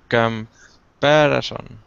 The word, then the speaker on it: comparison: Comparison. Perfect. Exactly. So that upside down E is the sound. The first syllable is come. Comparison, right?